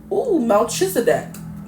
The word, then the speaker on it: Melchizedek: And then we have, Melchizedek.